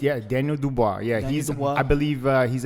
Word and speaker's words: Daniel Dubois: Yeah, Daniel Dubois.